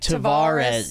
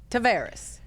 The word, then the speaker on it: Tavares: And I saw the pronunciation of your name from Facebook. Ah, you got your last name. It looks like Tavaris.